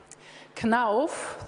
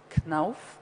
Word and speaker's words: KNUF: KNUF, this is how you pronounce it, KNUF, is a family-owned enterprise.